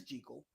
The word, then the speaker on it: Jekyll: So it is Jekyll, not Jekyll.